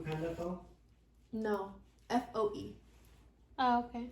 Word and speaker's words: Foe: P Panda fo no f o e oh okay like foe like you're my foe is it funny no